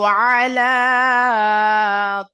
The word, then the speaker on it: على: আলা আইন আছে, আইন। তো আমরা আইনটা এর আগে মানে পড়লাম যে আইন উচ্চারিত হয় গলার মাঝখান হইতে, আলা নয়, আলা।